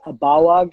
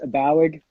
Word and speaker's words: Abaoag: The pronunciation of my last name is Abaoag in the old country. I grew up in Southern California, so we kind of anglicized it, so it's Abaoag.